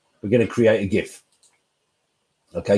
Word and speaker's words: GIF: going to create a gif okay because i'm a hard g kind of guy so i'm gonna put